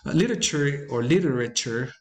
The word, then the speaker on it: literature: Literature is usually accented. No, this one is always accented on the first syllable.